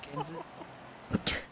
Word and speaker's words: Kenseth: Just four of them, Matt Kenseth.